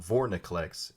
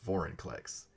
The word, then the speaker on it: Vorinclex: So it's not Vorniclex, it's Vorinclex. I just learned this now. It took me this long. It took 3 printings. Alright, I'm here with Vorinclex.